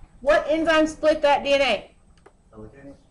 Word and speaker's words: helicase: Helicase. Hilicase. Good. Hilicase or helicase. I've always pronounced it hilicase, but I've heard it pronounced hellase, too.